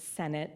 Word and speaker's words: Sinnott: Eno River State Park, or Sinnott, which these days we pronounce it Senate.